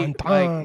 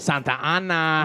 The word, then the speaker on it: Santa Ana: I mean, he is from Santa Ana, so you'd be able to at least maybe Santana. Say it right. Santa Ana.